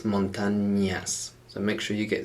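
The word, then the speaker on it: montañas: in las montagnas and notice we've got an n with a squiggle over the top the letter that's called enye so it's not montanas it's not like hannah montana it's montanyas so make sure you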